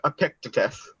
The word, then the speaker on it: Epictetus: Final answer, Epictetus.